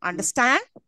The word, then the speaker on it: understand: Don't I emphasis on the last one? Understand? Yes. Don't you hear this? And it is also rising up if you've noticed. Understand? Yes. I'm insisting on the last syllable.